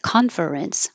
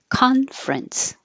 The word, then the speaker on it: conference: This also happens, it looks like conference, but it's not. We drop the middle E, and now it's conference.